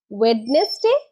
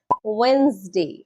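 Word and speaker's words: Wednesday: ওয়েডনেসডে? না না না, এটাও ভুল। সঠিক উচ্চারণ হবে ওয়েন্সডে। ওয়েন্সডে।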